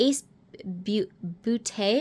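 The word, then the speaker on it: Ace Beauté: Mega palette and the ace booty I believe is how it's actually pronounced Falling For You palette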